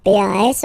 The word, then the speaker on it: pas: Okay, we write it P-A-S, okay, but as usual, final S is not pronounced, so it's pas.